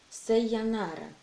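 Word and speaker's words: さようなら: И это слово читается как «сайонара».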